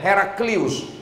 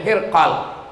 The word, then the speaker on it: Hirqal: Nama gubernur itu adalah Hirqal. Ejaannya adalah H-r-q-l. Ada yang menyebutnya Heraclius, ada pula yang menyebutnya Hirqal.